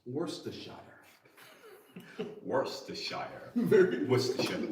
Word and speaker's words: Worcestershire: Susa, Jonathan, get Greg to pronounce Worcestershire. Worcestershire. Very Worcestershire. Worcestershire.